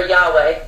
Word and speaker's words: Yahweh: Now, it says YHWH, which is pronounced Yahweh, it says Jehovah.